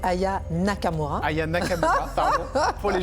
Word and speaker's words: Aya Nakamura: la France alors déjà vous prononcez mal son nom hein c'est Aya Nakamura Aya Nakamura pardon pour